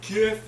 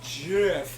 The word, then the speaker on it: GIF: It's not GIF, it's GIF. It's if like, you say fuck GIF, you.